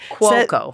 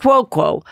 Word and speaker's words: Cuoco: Cuoco. Cuoco.